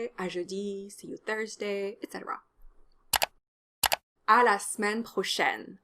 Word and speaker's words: à la semaine prochaine: In fact, none of the e's in à la semaine prochaine are actually pronounced.